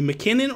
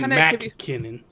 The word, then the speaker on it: MacKinnon: I've always called you, at least the people in our circles, McKinnon, and I think that's how you say it, right? That's the proper way, right? Yeah, it's like McKinnon. It's like you don't. It's not like okay. You don't say MacKinnon.